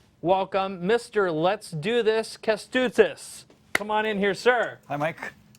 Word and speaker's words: Kestutis: You're about to meet a guy whose first name rhymes with "let's do this," and it's going to make sense in just a moment. His first name is Kestutis Rasimavicius.